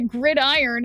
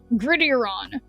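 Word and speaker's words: gridiron: Why Why not make it two words then if I'm if you want me to pronounce it grid iron instead of grittieron?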